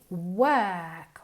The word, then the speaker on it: work: She works, trabaja, work, se escribe con una O, pero se pronuncia como si fuera una E, work, okay?